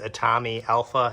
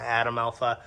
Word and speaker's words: Atomi Alpha: All right, so I said the name wrong. It is Atomi Alpha, not Atom Alpha.